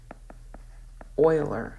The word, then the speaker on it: Euler: the approximation method of Oiler so this is pronounced Oiler okay German mathematician okay so let's talk about